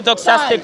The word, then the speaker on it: doxastic: Doc, Doxastic. doxastic, Doxastic. like a doxology.